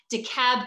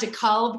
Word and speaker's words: DeKalb: of America understood that the L was not pronounced in DeKalb County. It's not DeKalb County, but DeKalb County.